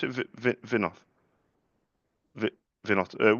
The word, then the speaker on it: Vinoth: Vi, Vinoth. With a H, Vinoth or Vinot?